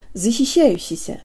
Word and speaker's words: защищающийся: Keep the tongue high and forward and say E with the jaw slightly forward, tip of the tongue behind the bottom teeth, lips rounded and protruded.